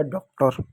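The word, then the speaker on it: daughter: चलिए मैं इसको आपको बताता हूं। डी का ड हो गया। खत्म हो गया। ए यू को औ की मात्रा हो गया। खत्म हो गया। जी एच नहीं पढ़ते हैं। टी का ट हो गया। टी भी खत्म। इ आर का र हो गया। हो गया आपका डॉक्टर।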